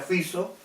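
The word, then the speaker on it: Robert Fico: Eslovaquia el señor Robert fixo ya se escribe fico pero se pronuncia fiso ya y que ya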